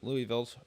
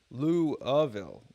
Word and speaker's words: Louisville: Frankfurt not Louisville however Louisville's pronunciation is typically pronounced as louville louville not Louisville Louisville I guess louville Louisville